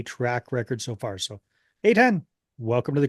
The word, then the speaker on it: Eitan: 99% of the people that I talk to get it wrong, but I always say it's like the letter A and the number 10.